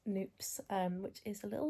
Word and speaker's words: Knoops: And then finally, before we came back home, we just stopped at this little spot called Noops. I think that's how you pronounce it. It's a KNOOPS, Noops, which is a little like chocolate specialty kind of cafe thing.